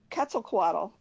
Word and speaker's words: Quetzalcoatl: because I I wanted to know how to pronounce that it starts with the Q it's Quetzalcoatl and your bird it's a FET it's a